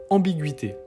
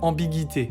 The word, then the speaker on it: ambiguïté: Par exemple, le mot ambiguïté, typiquement. Si on met pas le tréma, ça ferait ambiguïté, vu qu'on suit les règles de français avec GUI.